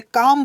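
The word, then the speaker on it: calm: काम लिखा हुआ है सी एल एम का काल में नहीं पढ़ते काम पढ़ते हैं ये एल साइलेंट होता है स्टूडेंट ठीक है सीएम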